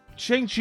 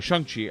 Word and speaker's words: Shang-Chi: so many possibilities firstly chiang chi is an avenger right oh sorry shung chi i i mispronounced it and now here in